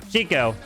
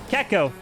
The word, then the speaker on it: Gekko: and i'm learning that it's not pronounced chico it's pronounced gekko i've been saying his